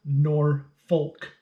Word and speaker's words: Norfolk: And it is Norfolk, even though it's spelled Norfolk, but it's Norfolk.